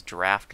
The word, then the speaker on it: draft: That is not a drought. Drought is spelled with an O, and that means like a lack of rain. This is draft, like, you know, phonetically spelled D-R-A-F-T. This is like the old English spelling.